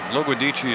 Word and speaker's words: Loguidici: I'll tell you one thing, Loguidici is the way it was originally pronounced.